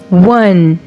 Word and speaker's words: one: one o on word one is a tricky word because o is tricky here o is giving the sound of w and he says W instead of O and E is silent here so we blend it like this w w one and other tricky word